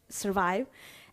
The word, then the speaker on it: SVRVIVE: nobody could pronounce it it's actually is survive but it's spelled with a VR and we thought it